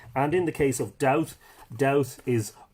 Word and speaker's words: Dowth: And in the case of Dowth, Dowth is, I always say Dubad, D-U-B-A-D. I have to be very careful here. D-U-B-A-D. And Dua would be the anglicisation of it. Or sorry, Dua would be the modern Irish pronunciation of it, anglicised to Dowth, D-O-W-T-H.